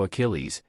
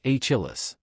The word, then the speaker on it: Achilles: which was mythological hero Achilles he pronounced the Greek war hero as aillis after a slight pause the buzzer sounded and the game continued on to the next player who pronounced the name correctly even though the contestant